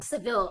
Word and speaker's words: Saville: And he is working with Connecticut singer-songwriter and producer Eddie Saville. You can correct me if I pronounce his name wrong there. Eddie Saville. Saville, all right, at Cottage Sound Studios in Middlebury.